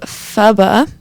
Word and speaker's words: pho: And that was my first time trying pho.